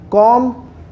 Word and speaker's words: comb: So don't use b and the b sound in the word comb.